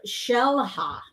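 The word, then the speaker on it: Xel-Há: And so I was in Mexico, like I said, and we were at a place called Shellha, and it's spelled X E L H A.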